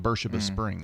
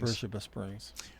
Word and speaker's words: Beersheba Springs: Beersheba Springs, because it's spelled Beersheba, but it's called Beersheba Springs. Beersheba Springs.